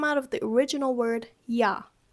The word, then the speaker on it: ja: It just happens very, very often for Germans that you get kind of lazy, and again, evolution of words, evolution of vocabulary, evolution of pronunciation. It just so happens that ja oftentimes becomes yo.